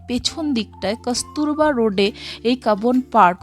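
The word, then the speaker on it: Cubbon: মানে সম্পর্কে জানতে পারি সি U double B ও এন এবার আমি পড়েছিলাম কিউবন পার্ক ইশাব বলল কাবন পার্ক যাই হোক রাস্তায় যেতে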